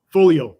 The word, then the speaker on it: Foglio: you pronounce that correctly folio so it's an Italian word so the the g is silent there okay okay so folio how do you work